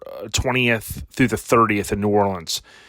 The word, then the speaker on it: New Orleans: through the 30th in New Orleans so or New Orleans as some pronounce uh basically that's in